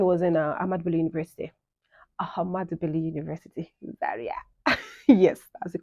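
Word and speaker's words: Ahmadu Bello University: Ahmad Bello University, Zaria. Yes, that's the correct pronunciation.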